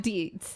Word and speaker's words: Deitz: a guest with me his name is deeds right yes I want to make sure you